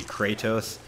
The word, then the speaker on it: Kratos: again so do i some people were saying it I was pronouncing his name wrong it should be Kratos some people say Kratos an enemy Sun bar